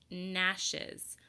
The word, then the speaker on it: gnashes: In words that begin with GN, we don't hear the G.